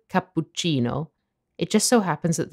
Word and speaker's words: cappuccino: the authentic italian pronunciation the biggest difference is that english people fail to properly pronounce the double consonants in the word cappuccino it just so happens